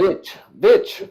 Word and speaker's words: Vetch: Is that Vetch? Yeah, is that how you pronounce that? Bitch, like bitch.